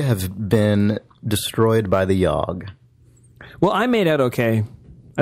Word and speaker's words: Yawhg: We have been destroyed by the Yawhg.